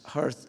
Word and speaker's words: hearth: Hearth. In certain dialects in northern England and in Scottish dialects, hearth still rhymes with earth.